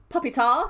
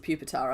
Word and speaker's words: Pupitar: Puppy, who's you actually pronounce it pupitar, I believe.